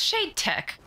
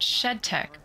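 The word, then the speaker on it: SHD Tech: which one is correct it's shade tech and they were calling it shed tech would you just whatever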